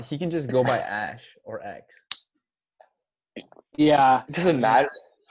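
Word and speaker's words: Æ: just stands for eggs the AE is pronounced ash as an Ash Ketchum and then a -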